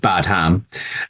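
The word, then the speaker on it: Badham: journeyman director so John badam I hope I'm pronouncing his uh his name right it's it's just bad ham uh so yeah John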